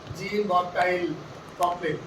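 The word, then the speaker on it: Jean-Baptiste Poquelin: नाटक बिच्छू, जिनका नाम है जीन बॉप्टाइल कॉपले। ये फ्रेंच प्रोनाउंसिएशन है।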